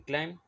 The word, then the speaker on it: climb: it for you so in climb B is silent underline B is silent